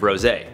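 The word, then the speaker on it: Rosé: most likely already did, I'm gonna use the English pronunciation of Rosay.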